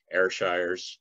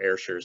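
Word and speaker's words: Ayrshire: there's guernseys jerseys holsteins air shires or airshirts depending on how you want to pronounce it brown swiss and also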